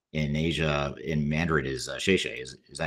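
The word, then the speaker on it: 谢谢: from my time in Asia in Mandarin is "xie xie." Is that how you say thank you? Is it "xie xie"? Yeah, that's right. You got it right. How do you pronounce?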